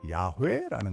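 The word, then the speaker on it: יהוה: 신명 이름들, 교부 기록들, 그리고 문법적 분석을 결합하여 현재의 합의는 테트라그라마톤의 가장 가능성 있는 발음이 야훼라는 것입니다. 한국어로는 가벼운 기식 가치가 있는 야훼와 비슷하게 들립니다.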